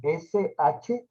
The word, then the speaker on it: Shila: S-H-I-L-A, Shila, se pronuncia en sánscrito.